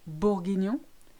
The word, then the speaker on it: bourguignon: GN, you know this one if you've ever had beef bourguignon, if you've ever had cognac, and if you've ever been to the montagne, which is mountain. So it's quite a light sound, N.